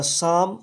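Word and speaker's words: psalm: ध्यान रखना, साम की स्पेलिंग पी से स्टार्ट होती है, उसके बाद में एस होता है, ए एल एम।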